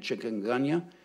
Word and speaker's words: chikungunya: I've read several arguments about how you pronounce this word, but I'm going to say it with an English American way of saying it, chikungunya.